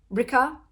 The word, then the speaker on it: Rika: So if you might recall, at the beginning of the book, we set up with Rika. That's how you pronounce it because it rhymes with pricker.